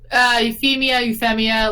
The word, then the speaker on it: Euphemia: Euphemia Lee Britannica. Wait, how do you spell that? Just everyone calls her like nope. EUPHEMIA. Like like Euphoria. Oh, Euphoria, that works too.